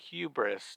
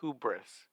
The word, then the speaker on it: hubris: monopoly on mispronunciations Carol sorry it's hubris not hubis part of the Peter